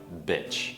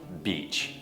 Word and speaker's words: beach: tình nữa các bạn rất khó phân biệt hai nguyên âm e và e và nếu không thể phát âm cho đúng thì các bạn sẽ nói bitch đ không nà Thay vào beach vãi biển Vậy thì